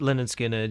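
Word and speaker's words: Lynyrd Skynyrd: Like like cuz you did the first three albums with them, so you did like uh Pronounced Leh-nerd Skin-nerd, you did Second Helping, and you did Nothing Fancy.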